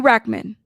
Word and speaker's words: Rachtman: Riki Rachtman. The T is silent, okay?